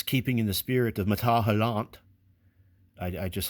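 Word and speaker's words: Métal Hurlant: in the spirit of matahalant. I I just like saying it. So I'm trying to say it the f the way the French say it.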